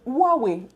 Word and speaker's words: Huawei: Les gens disent que je prononce mal. Mais c'est Huawei.